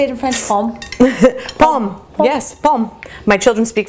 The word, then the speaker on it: pomme: Pomme.